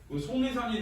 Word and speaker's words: 속리산: 이 속리산이 있는데 이거 표준 발음으로 하면 비음화에 기역, 디귿, 비읍, 리을을 만나면 얘가 이응, 니은, 미음하고 니은이 되거든. 송리산이 되면 기역이 이응으로 바뀌어. 송. 그 다음에 리을이 니은으로 바뀌어. 니, 산 이렇게 돼.